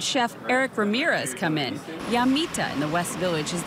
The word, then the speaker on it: Llamita: So I would probably say Llamita, but really to pronounce it, you say Llamita, and it's located at 80 Carmine Street in the West Village.